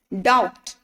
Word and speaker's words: doubt: Doubt. When we are saying doubt, right? We are not speaking B sound. It's B. That means B is silent here.